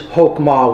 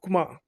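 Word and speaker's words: Chokmah: Number 2 is Hokmah, which means wisdom. It's called Kukma.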